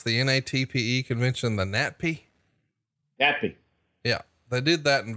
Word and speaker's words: NATPE: And it's about the, how do you pronounce the NATPE convention? The NATPE? NATPE.